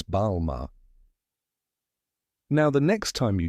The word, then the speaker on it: Balmain: Kardashian many people say Balmain pronouncing the N but in French the N is silent so it's balar now the next time